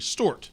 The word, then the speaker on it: Stuart: He says it like Stoort. Stuart.